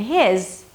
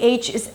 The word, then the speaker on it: his: Now, the function words 'he', 'him', 'her' and 'his' are pronounced differently, depending whether they're stressed or unstressed. If they're stressed, the H is absolutely pronounced. If they're not stressed, the H drops.